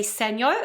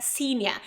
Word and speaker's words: senior: And by the way, very often people say senior, okay? It's a mistake as well. Remember, senior.